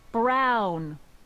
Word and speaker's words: Brown: That's Emmett Brown. Rhymes with clown, which That's I'm me.